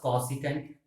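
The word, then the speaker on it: cosec: ठीक है, नेक्स्ट आपके पास कॉसिकेंट, कॉसिकेंट, सी ओ, कॉसिकेंट स्पेलिंग देख लेना, तो इसको हम बोलते हैं कॉसेक।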